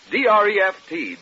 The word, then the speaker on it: Dreft: I'll spell it. D-R-E-F-T, Dreft.